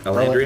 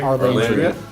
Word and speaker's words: Arlandria: Alandria? Arlandria.